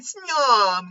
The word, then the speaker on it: Snom: And so I'm going through all the bug Pokemon, and I looked at Snom, because that's kind of how you say it.